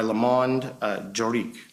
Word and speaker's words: Le Monde Juridique: the Business Legal Advisor of the Year by Le Monde Juridique. Is that correct? That's correct. And did I pronounce it correctly?